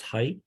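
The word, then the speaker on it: Heydt: Height.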